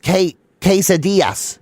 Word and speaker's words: quesadillas: That's but it's pronounced quesadillas.